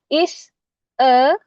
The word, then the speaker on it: is a: Ada is, e, is, e. Ini bukan isa ya. Bacanya is, e, ya.